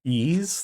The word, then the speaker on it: Ys: It's pronounced ease, like wet east without the T.